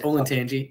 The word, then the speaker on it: Olentangy: I don't know if I can pronounce it correctly off the bat. Olentangy? Is that right? Olentangy, yeah.